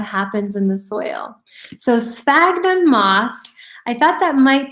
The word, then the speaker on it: sphagnum: So sphagnum moss.